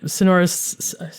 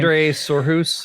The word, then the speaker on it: Sindre Sorhus: And so, yeah, I mean, Sonoris, I just said Sonoris. I always mispronounce their name. Sindre Sorhus, I think.